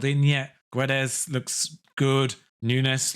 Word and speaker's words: Nunes: yet guedes looks good nunes looks good or nunch probably is pronounced but yeah the obviously